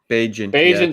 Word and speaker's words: Bagent: I think it's going to be Bagent Zero, dude. Okay. Bagent Zero. I never can say it right, and I always fumble over it. It's like agent.